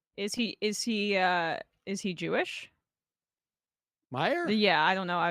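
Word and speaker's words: Meijer: E-I-J-E-R, but they pronounce it Meyer.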